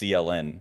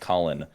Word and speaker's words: CLN: So I thought it was pronounced CLN because that's all his name is. It's just CLN. And then Dayton told me it's pronounced Colin.